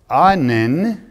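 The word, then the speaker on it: ענן: that the prime of the word anan a-n-a-n very simple in the hebrew i'll say it again a n-a-n emphasis on the last inn it means a covert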